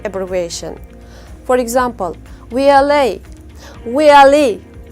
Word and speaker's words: VLE: Usually stress is put in the last letter of any abbreviation. For example, VLA, VLE, VLE.